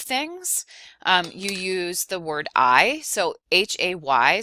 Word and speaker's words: hay: you use the word I. So H-A-Y. So remember in Spanish, the H is silent. So you would say I means there is or there are.